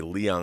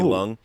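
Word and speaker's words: Leung: kunlun and and having tony lung the the i used to say liang i was corrected it's one syllable tony lung uh a native chinese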